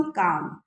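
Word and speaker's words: calm: उसने खुद में ही सोचा व्हेन जब दोस वेव्स बिकम काम। जब लहरें शांत होंगी एल साइलेंट है।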